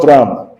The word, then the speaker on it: drachm: So call it dram, just dram.